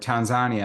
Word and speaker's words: Tanzania: But the murals are more a semi-permanent display of, the issues that are, like for instance, in Tanzania, or Tanzania, as they like to, as they call it.